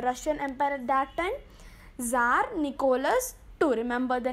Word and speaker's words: Tsar: Now this you can see the word TSAR. The T is silent there, so we pronounce it as Tsar or Tsar, whatever, Tsar or Tsar.